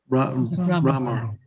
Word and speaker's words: Ramor: How do you pronounce Loch Ramor or Ramor? Which is it? Ramor.